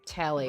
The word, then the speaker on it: Telly: The name's Telly. Telly. Rhymes with Nelly. Like, whoa, Nelly!